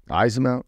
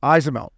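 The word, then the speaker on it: Eyssimont: Yeah, well, Ismount. Ismount.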